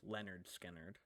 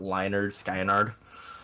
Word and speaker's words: Lynyrd Skynyrd: American rock band Leonard skinnard uh this is pronounced Leonard skinnard the it's not Leonard Skynard no dang it no some people some people